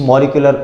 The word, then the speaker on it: molecular: देखें जी बात यह है कि अगर कोई बहुत ज़्यादा इंटेंस टर्मिनोलॉजीज की तरफ जाए ना हम तो इसको पढ़ते हैं मोलेक्यूलर।